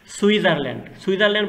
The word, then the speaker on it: Switzerland: সুইজারল্যান্ড বানানটা একটু খেয়াল করবা, SWITZERLAND, টির কোনো উচ্চারণ নাই, সুইজারল্যান্ড, ফ্রান্স অ্যান্ড সুইজারল্যান্ড, এটুকু লিখলেই হয়ে যাবে।